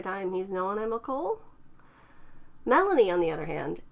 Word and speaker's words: CoL: names children of Loki or Cole pronounced the same as Cole is by far the